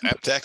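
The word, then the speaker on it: APTAC: procurement professional certificate from do we say it like app Tech Allen yeah app Tech is perfect okay the National Organization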